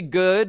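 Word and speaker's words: Goode: Gigi good. The E is silent.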